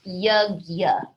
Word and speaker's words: yajna: So the word that was actually used here for the word selfless worship and service is called yajna. Yeah, that's how it's spelled, but it's pronounced yajna, which means a sacrifice or an offering.